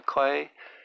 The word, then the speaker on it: quay: I heard the words one evening in Toto as I sat on the quay, waiting for someone. That's pronounced key, sorry.